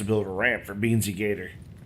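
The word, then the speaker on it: Gaeta: a ramp for Beansy Gator, or Big Gata, I think is how you say his last name.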